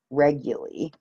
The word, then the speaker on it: Reguly: anyways yeah so regularly no one ever ever gets the pronunciation of my name right but it's re G u ly regularly and I run wording